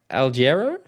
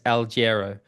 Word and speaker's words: Alghero: Alghero?